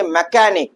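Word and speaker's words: mechanic: तो मैकेनिक नहीं पढ़ेंगे, हम पढ़ेंगे मैकेनिक।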